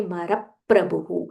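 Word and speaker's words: महाप्रभु: This is pra, half pa and a full ra. So when we chant, we say Maraprabhu. Stress on that half pa.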